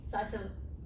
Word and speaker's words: subtle: it ciaos it's chaos people said subtle subtly but we remain silent here so you should be saying it subtle so same thing about